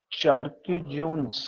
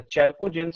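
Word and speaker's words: chalcogens: चार्किजोन्स क्या होते हैं? ये चार्किजोन्स नहीं होता, चैल्कोजेंस होते हैं।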